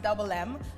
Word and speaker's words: DVBLM: getting the different and hey it's double m it's pronounced double m um the double m